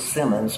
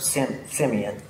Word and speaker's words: Simeon: And a lot of old people pronounce it Simmons, but it was actually a French word, Simeon.